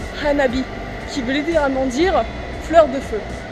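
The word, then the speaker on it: 花火: Fun fact, firework in Japanese is pronounced "hanabi" which literally means "fire flower".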